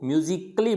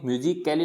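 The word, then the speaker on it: musically: ए आ रहा है, तो यहाँ पे इसको म्यूजिकली बोलेंगे, यानी कैली नहीं बोलेंगे। क्या नहीं बोलेंगे, म्यूजिक कैली नहीं बोलेंगे, क्या बोलेंगे इसको, म्यूजिकली।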